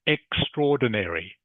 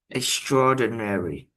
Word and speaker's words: extraordinary: Extraordinary. Extraordinary. Good. Very good pronunciation.